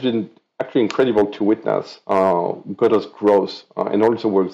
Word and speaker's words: Godot: I think no one is really sure how to pronounce Godot or as a project. I'm going to trust my French and just pronounce it Godot.